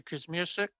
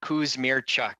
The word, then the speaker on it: Kusmierczyk: Kuzmirsik? Thank you very much, Chair. Really do appreciate it. And it's pronounced Kuzmirchuk.